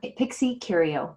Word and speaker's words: Pixiecurio: How do you pronounce this? Oh, the Instagram, Pixiecurio.